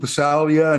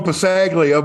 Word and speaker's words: Passaglia: the likes of lupe salia and and i just pulled a holes deal on that pronunciation and you're correct by the way i used to call him passaglia but uh he was